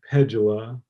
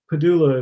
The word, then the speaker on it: Pedulla: right really but but occasionally I'll get pedula or something like that yeah but padulla is how we say it yeah um it's